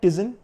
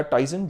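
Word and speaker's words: Tizen: इसमें आपको आता है टजन या टाइजन जो भी आप बोल सकते हैं प्रोनाउंस जैसे भी आपको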